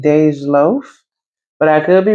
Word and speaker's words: Dej Loaf: So, I think you pronounce her name Dej Loaf, but I could be wrong, y'all.